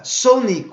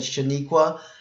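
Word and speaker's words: Sonequa: name wrong right yeah Sonique Wow Sonique Wow I knew I was saying it cuz I said it in the last video and I said Shaniqua and I kept thinking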